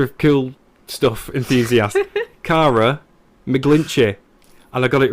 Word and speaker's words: McGlinchey: I realised that I've been pronouncing it wrong for the last several years by calling you McGlinchey. But there's no L there, so I don't know where that came from.